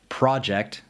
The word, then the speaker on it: project: In a lot of two-syllable words, if you emphasize the first syllable, it makes it a noun, and if you emphasize the second syllable, it's a verb. first syllable, noun, second syllable, verb.